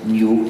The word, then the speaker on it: GNU: Pero en castellano se puede pronunciar GNU como si comenzara por N. Me dicen que es más fácil para los hispanohablantes. Y en español no causa confusión, pero en inglés sí causaría confusión. Hace falta pronunciarlo GNU.